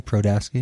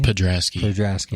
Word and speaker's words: Podrasky: So, how do you say your last name? Prodaski? Podrasky.